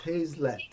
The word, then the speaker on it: Hazlett: yeah I could pronounce it anyway everybody does oh yeah I call it hazelet or something yeah it's hazelet hazelet something I was calling your last name somewhere like that everybody gets it wrong yeah it's kind